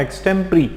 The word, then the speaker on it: extempore: देखो ये वर्ड है एक्सटेम्प्री। देखो इसमें लिखा गया है, ध्यान देना दोस्तों, EXTEMPORE। ठीक है, लेकिन इसको पढ़ते कैसे हैं, प्रोनाउंसिएशन इसका होता है एक्सटेम्प्री। प्री होता है, पोर नहीं होता है, प्री होता है।